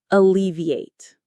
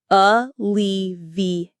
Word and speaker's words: alleviate: Alleviate. Let's try it. Alleviate. Alleviate. Hear that stress on the second syllable. Lee. Alleviate.